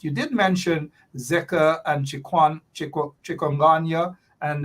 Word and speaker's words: chikungunya: You did mention Zika and chikungunya, and chikungunya as it's pronounced, and then it's filariasis, and then the